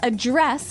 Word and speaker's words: address: differently so the verb address has the the stress on the second syllable okay address yes and